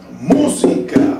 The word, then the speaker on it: música: Música, música. El acento está en la mu, la palabra, en la vocal, pues en la sílaba mu. Música, música, ahí, acento fuerte.